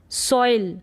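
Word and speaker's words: soil: कॉइल क्या पढ़ेंगे कॉइल सोइल क्या है सोइल सोइल सोइल तो गलत हो जाएगा ठीक है सोइल नहीं सॉइल क्या पढ़ेंगे सोइल तो इनको एक बार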